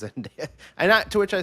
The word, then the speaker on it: Zendaya: credits, and I'm like, is it Zendaya or Zendaya? I feel like I said Zendaya forever. I think it's Zendaya. Yeah, I think I've heard people say her name like that. Yeah, before. I believe that is correct. That it is Zendaya.